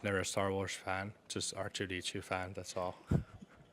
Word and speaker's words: Arttu: But, like, coming to here, people obviously pronounce it more like R2-D2. And back home, it's a little different.